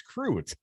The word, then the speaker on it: Crute: Pronunciation is Crute, but lots of variants: a Crudy.